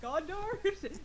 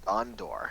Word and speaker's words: Gondor: Okay, because I was just I was Oh, like, wait, is it Gondar? No, Gondar calls for aid. oh, Gondor. That's what you said.